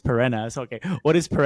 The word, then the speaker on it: Perena: Making sure I pronounce it correct because I always said Pirina and then you correct me on Twitter. It's Pirina.